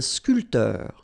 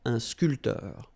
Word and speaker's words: sculpteur: Un sculpteur. Same thing here. This P here is not pronounced. So, sculpteur. Un sculpteur.